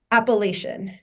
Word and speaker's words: Appalachian: And so that's why I took the job at Appalachian State, which you even pronounced correctly. They're very uptight about it here. Well, how do people mispronounce it? Appalachian.